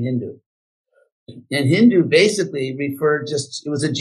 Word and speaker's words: Hindu: So they had this interesting speech pattern on the Persian side where they pronounced an S as an H. So Sindhu became Hindu.